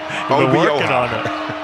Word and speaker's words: Obioha: Obioha. I have learned the proper pronunciation. Obioha.